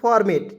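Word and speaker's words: format: ठीक है उसके बाद एफ ओ आर एम ए टी अंतिम में टी ई का प्रयोग करेंगे फॉर्मेट ठीक है फॉर्मेट फॉर्मेट इसे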